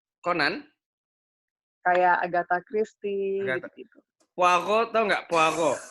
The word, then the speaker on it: Poirot: Poirot, tau nggak? Poirot. Hercule Poirot. Hah? Hercule Poirot. Apa tuh? Poirot tulisannya. Poirot. Poirot. Bacanya Poirot. Poirot. Hercule Poirot. Baru tahu aku. Hercule Poirot. Enggak lah. T-nya enggak disebut.